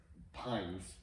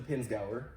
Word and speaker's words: Pinzgauer: me but it's like pines peens yeah so it's it's the pins gower okay pins gower yeah